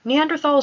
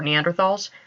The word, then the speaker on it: Neanderthal: I'm going to be saying Neanderthal. It is more natural for me to say it that way.